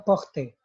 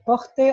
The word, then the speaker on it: porte: Kalau yang ini bacanya porte, kalau yang ini bacanya port. Cuma berhenti di T, jadi port.